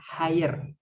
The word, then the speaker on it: higher: G-nya itu voiceless atau tidak dibaca, higher.